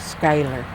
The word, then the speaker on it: Schuyler: and my maiden name was skyler you want to spell that for us please says